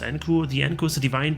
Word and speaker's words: Enku: Enku pronounced Enku.